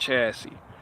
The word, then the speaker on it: chassis: It's spelled chassis, but it's pronounced chassis.